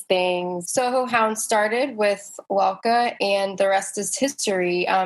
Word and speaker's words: Lalka: It's Lalka, so it's Lal and then.